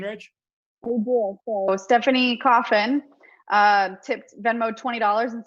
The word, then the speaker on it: Coffin: So Stephanie Coffin tipped Venmo $20 and said, Rachel, it's coffin, just like the box.